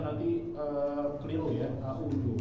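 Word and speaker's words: أعوذ: Jadi jangan sampai ketika membacanya nanti keliru ya, a'udzu. Padahal seharusnya za ini ada di ujung lidah, bukan di tengah lidah.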